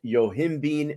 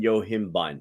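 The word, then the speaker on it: yohimbine: uh um all right I've heard it pronounced as yohimbean and yohimban which one do we go by yeah I think either one's acceptable all right so let's go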